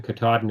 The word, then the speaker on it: Katadyn: filters made by Katahdin it looks like it's spelled katadyn but it's pokin Katahdin it's ka ta Dyn